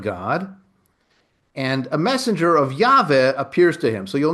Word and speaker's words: Yahweh: I I pronounce it as Yave. Some say Yahweh.